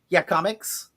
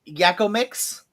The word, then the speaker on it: Yakomics: It's supposed to be pronounced Yakomics. Okay. It looks like it says Yakko Mix, but it's supposed to be pronounced Yakomics. They're over on Fruitvale, but